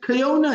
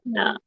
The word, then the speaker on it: Koyena: It's Koyena. Pardon? It's Koyena. It's pronounced Koyena.